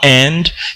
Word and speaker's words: and: famille entière nous avons and ici qui est une conjonction et normalement en bon anglais on prononce pas on prononce n n le son c'est n on écrit mais on